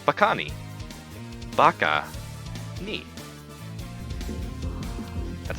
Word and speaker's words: bakani: crab what's the crab called crab is called bakani Baka neat that's how it's spelled b-a-k-a-n-i one of the most common creatures